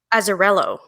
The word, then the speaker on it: Azzarello: He did the original book, but is that how you pronounce his name? Azzarello.